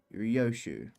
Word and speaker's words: Ryoshu: No, that's not how you read those letters. Yoshidai. That's how you say it. Ryoshu. It's prettier and easier.